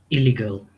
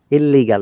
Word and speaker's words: illegal: illegal. Yes, do you see? You pronounce double. Illegal. No, basically it's illegal. Illegal. One L should be removed. when you're pronouncing.